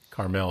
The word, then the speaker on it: Carmel: Carmel is Carmel, right? Carmel. So there's no A in the middle there, which for caramel there is. So or caramel, Cara, like Louisville.